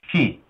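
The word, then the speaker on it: 四: In my wife's country, Japan, the number 4 is pronounced shi.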